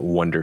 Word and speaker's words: Oneder: I'm okay with that so the correct way is wonder if you want to